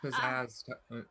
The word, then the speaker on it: pizzazz: It's pronounced pizzazz, Vesh.